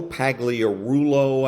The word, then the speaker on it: Pagliarulo: So a little clip from Joe Pagliarulo, I think is the way he pronounces his name, but Joe Pags for short.